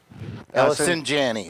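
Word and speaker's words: Allison Janney: and having Alice um J Janet can't pronounce her name the the star of the TV show Mom Ellison Janney that's it I think yeah so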